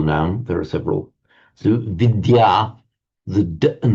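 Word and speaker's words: विद्या: So vidya the and the y pronounced separately in Sanskrit vidya and that's the one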